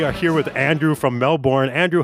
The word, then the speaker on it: Melbourne: pretty good Mike um I always love the way Americans say Melbourne we just say Melbourne Melbourne I I can't say it that way Melbourne Melbourne okay it's like Mel you know so yeah